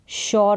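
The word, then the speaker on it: sure: आर यू शोर इसको शोर करके पढ़ेंगे तो यहां पर एस का उच्चारण श करके हो रहा है काम डाउन काम का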